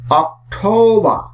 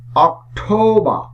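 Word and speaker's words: October: অক্টোবর, অক্টোবর। এই শব্দটির শেষেও আর আছে, তাই এই আর সাইলেন্ট থাকবে।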